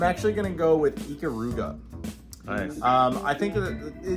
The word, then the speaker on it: Ikaruga: I've always called it Ikaruga. Am I saying it wrong? Yo, definitely. Yes. It's Japanese phonetics. Yes. Ikaruga. Yeah. What do I know? not Japanese. Right. So yeah, anyway, Ikaruga, which would be more